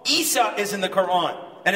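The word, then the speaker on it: عيسى: Jesus Jesus is in the Quran right wrong Isa is in the Quran and it's spelled Isa Isa now as as those from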